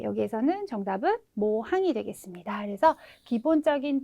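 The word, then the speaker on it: 模範: 네, 여기에서는 정답은 모항이 되겠습니다. 그래서 기본적인 발음이 모예요.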